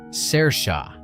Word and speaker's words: Saoirse: Her name, for the record, is pronounced Saoirse.